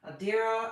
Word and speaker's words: Adira: I know a lot of people say it differently or don't know how to pronounce it or whatever, but Adira.